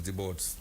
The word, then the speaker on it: Des Borders: It's the first S is silent, so it's the boards.